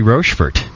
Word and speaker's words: Rochefort: of the trais brewery rord correct make sure I'm saying it right Paxton it is rord okay good cuz I've said it wrong in the past people have